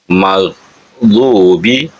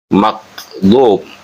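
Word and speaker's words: المغضوب: Kemudian pada ayat ghairi magdubi alaihim juga ada gha yang sering terbaca kha khairil magdub sering terbaca makdu atau makhdu.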